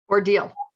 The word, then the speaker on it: Odile: do you say your last name oh duck ordeal i'm an ordeal just married into the box